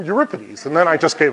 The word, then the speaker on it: Euripides: you pronounce Ripa DS he said you're Ripa DS I said okay Euripides he said no no no Euripides and I said you reckon he said no Euripides and then I just